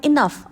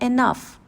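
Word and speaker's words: enough: The word इनफ। अब इसमें ई एन के साथ ओ यू जी एच एज a suffix है। लेकिन हम इसको पढ़ रहे हैं इनफ। तो यहां पर यह ऑफ की आवाज है।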